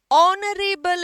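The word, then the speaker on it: honourable: person नहीं होता है उच्चारण में ऑनरेबल है एच साइलेंट है ऑनरेबल पर्सन ओ एन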